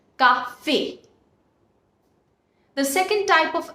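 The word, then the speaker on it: café: the pronunciation of letters so when we put axo egg you on top of E the pronunciation of the letter becomes a a as in the alphabet a for example which is Coffee Cafe you see we have put abso AQ on top of e which makes the pronunciation Cafe the second type of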